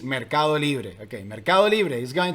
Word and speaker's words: Mercado Libre: In Spanish, we say the correct pronunciation of the name of this company is Mercado Libre.